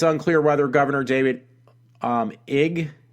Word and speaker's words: Ige: Sorry about that one word I kind of mispronounced. Anyway, it's unclear whether Governor David Ige, it's I-G-E, I've never seen a name spelled